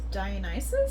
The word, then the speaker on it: Dionysus: Yeah, so then it kind of goes into the next labor, which is Dionysus.